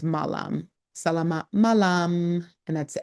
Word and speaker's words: malam: So we're looking at the 3 to 5:00 pm and then once it's sunset to evening it's malam sal malam and that's m a l a m and malam could mean good evening and good night.